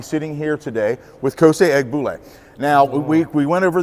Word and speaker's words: Egbule: ahead and I want you to correct the pronunciation of your full name if you could uh or Co yeah egg ble last name okay but yeah or